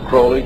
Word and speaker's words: Crowley: was an individual i were to vomit Aleister Crowley he likes to be named pronounced croley to rhyme with poli and the statements today